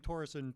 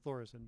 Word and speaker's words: Þórisson: I'm still working on the H. I was saying Thoresen too long. I've got to convert myself to saying Thoresen, but Nökkvi.